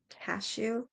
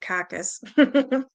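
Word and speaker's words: cachou: a bad smell so it's the good it's pronounced cashew so there was a cashew that is some strange spelling I would have said caucus from inquiries made it was found that at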